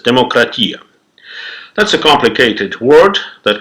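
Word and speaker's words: δημοκρατία: As of today, almost everyone knows that the word democracy came from ancient Greece, where they used to pronounce it as demokratia.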